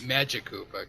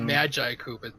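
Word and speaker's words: Magikoopa: By the way, I'm pretty sure it's just pronounced Magic Koopa, because if you call it Magi Koopa, it sounds like it's the Bible or something.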